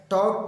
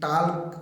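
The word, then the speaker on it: talk: अब देखिए यहाँ पे एल साइलेंट रहता है, टॉक वॉक, और इससे मिलता जुलता एक वर्ड और है चौक, एल साइलेंट रहता है। ऐसे नहीं कि टाल्क वाल्क चाल्क ऐसे नहीं बोल रहे, ठीक है, एल साइलेंट होता है, टॉक वॉक एंड चौक।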